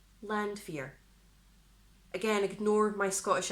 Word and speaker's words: Landwehr: comments section below, but I'm pretty sure it's Landwehr, because it's a W in German, Landwehr. Landwehr. Again, ignore my Scottish accent, but I'm going to go with Landwehr.